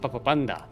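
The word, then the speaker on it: Papapand4: The last A is a 4. It's Papapand 4. Papapand 4. But it's actually spelled. It's pronounced Papapanda.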